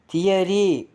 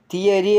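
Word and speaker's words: theory: sound யா உச்சரிப்பு இசைக்கருவி தியரி தியரி அந்த ஓவுக்கு என்ன சவுண்டு யா உச்சரிப்பு தியரி தத்துவம் கமிலியன் கமிலியன் அந்த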